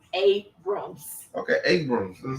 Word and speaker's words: Abrams: Ingram U Stacy AB Aram aka the uh say it right Stacy abam Abrams Abrams yes Abrams okay Abrams I'm saying